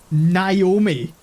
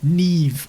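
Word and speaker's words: Niamh: mom looked her like what like we we pronounce it Naomi that's how they were pronouncing Neeve ni MH they were pronouncing it Naomi which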